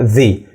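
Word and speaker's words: the: قدامك ديتي مش بنقول ذا اور مش بنقول مش بنقول ذا اور خالص احنا بنقولها اور ليه بنقولها ذا اور لان صوت الساعه يعني اور ا ديتي صوت متحرك فبالتالي بنقولها ذي ذي اور احيانا ممكن انطق التي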